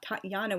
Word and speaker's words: Tatiana: true pronunciation for example I originally thought Tatiana was pronounced Tatiana because I had only seen the spelling t-a-t-i-a-n-a the more accurate Tatiana spelling with the y-h suggests that true pronunciation the letter e is